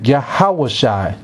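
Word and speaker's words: יהושע: Jesus, you say his name Yahushua, two different ways.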